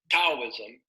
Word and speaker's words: Taoism: idolatry third Confucianism fourth Taoism or some people pronounce it as tau ISM and fifth Mahayana Buddhism